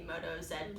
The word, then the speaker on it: Moto Z: the Moto Zed play I call it the Moto Zed just because I'm Canadian and Zach shaking his head back there so you know what maybe it's not the right way to say it but proud Canadian I'm